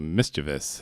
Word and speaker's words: mischievous: Keith was very mischievous, or mischievous, as they would say, in, Mischievous. literally in England. That's how it's pronounced in England.